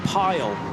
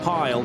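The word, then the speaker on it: Pijl: The I and the J I'm always told by Dutch friends is pronounced with a Y in English. So let's go with Dan Pile.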